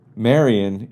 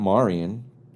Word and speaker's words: Marion: Plus, what always kind of confuses me is Marion is my name with an N on it. It's not Marian. So, just take off the N and it's Mario. And there you go. But, that's how I pronounce it.